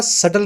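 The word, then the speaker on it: subtle: है अपने पास सटल इसमें बी साइलेंट है बोला नहीं जाएगा सल बोलेंगे इसको सल का मतलब होता जो इनडायरेक्ट हो और लाइट हो।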